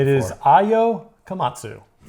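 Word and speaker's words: Komatsu: It is Io Kamatsu.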